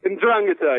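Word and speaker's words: 'Ndrangheta: Ndrangheta, yes. So the stress is on the second syllable.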